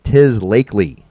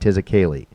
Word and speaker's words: Tis Lakely: Tis Lakely. Tis Lakely, not Tis a Kaylee.